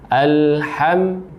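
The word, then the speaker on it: الحمد لله: al-ta'rif disini dan pengucapan huruf lam nya perhatikan bahwa ketika mengucapkan al-ta'rif ini jadi lemnya tidak memantulkan suara atau tidak ada tambahan suara menjadi alat hati-hati kata itu akan menjadi tawallud dan ketika kita membaca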